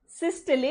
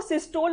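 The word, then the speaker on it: systole: कौन से 2 term, सिस्टले एंड डायस्टले। देखो, सिस्टोल और डायस्टोल प्रोनाउंस करते हो, वो गलत प्रोनाउंसिएशन है, उसकी सही प्रोनाउंसिएशन इज सिस्टले एंड डायस्टले।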